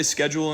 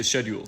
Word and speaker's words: schedule: Usually Americans say sked-jool and people from the UK say shed-yool. But the word actually comes from French sed-yool, which is neither.